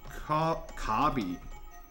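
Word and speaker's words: 卡比: Now it is time for Kabi.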